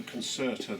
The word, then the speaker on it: Concerta: bit of space um the Concerta that everyone knows about and that is actually the correct way to pronounce it unless you're in Italy